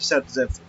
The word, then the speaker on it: Zaitsev: नाम क्या था, अलेक्जेंडर ज़ेटसेव। ठीक है, ऑल्सो प्रोनाउंस्ड एज सेटजेफ। ठीक है, इसको सेटजेफ भी बोलते हैं।